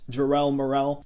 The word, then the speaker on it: Jarrell Morrell: channel hi welcome everyone my channel name is pronounced Jarrell Morrell jarrell's my first name and the morel I just added because it Rhymes and it sounds kind of nice has a nice ring to it okay bro